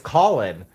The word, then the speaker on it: Colin: And she's like, "It's Colin." Like you're calling the phone. Like you're calling on the phone. Like if you just remember you make calls, you're calling.